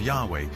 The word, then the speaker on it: Yahweh: would be YH wh which we think were probably pronounced something like Yahweh but Yahweh only appears